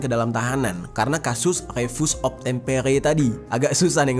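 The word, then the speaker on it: refus d'obtempérer: Yang mana di dalam istilah Perancisnya tulisannya tuh kayak gini, bacanya itu refus obtempere. Tulisannya ya refus de obtempere gitu ya.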